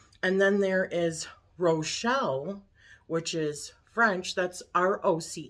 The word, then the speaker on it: Rochelle: and then there is Rochelle which is French that's r-o-c-h-e-l-l-e but that sounds more like how you say my name but it's a run instead of a row but um and that